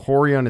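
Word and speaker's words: Rorion: career Journey Etc is the RS are pronounced like H's so horon is actually R Hixon is actually r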